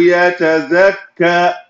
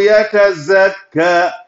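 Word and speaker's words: يتزكى: Alladhi yuti malahu yatazakka. Malahu yatazakka. The who have to be emphasized because of that. Alladhi yuti malahu yatazakka. Yatazakka zai. Yatazakka. The ka have fata musaddada. Make sure you pronounce it.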